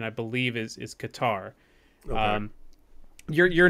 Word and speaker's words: Qatar: of this place so if you go by how it's pronounced in Arabic it's Qatar and the closest thing Americanized to it is Qatar uh a lot of people are saying cutter because it sounds close